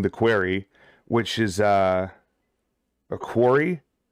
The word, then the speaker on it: quarry: quarry, which is a quarry. I guess it's pronounced quarry, not query.